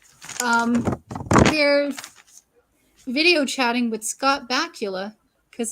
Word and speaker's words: Bakula: Oh, and we totally forgot at the very beginning of the episode, they're video chatting with Scott Bakula because his name rhymes with Dracula.